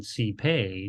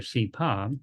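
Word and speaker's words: སྲིད་པའི: It's going to connect it to something following, and then it becomes in pronunciation sipe, no longer sipa, but sipe, no longer sipa, but sipe.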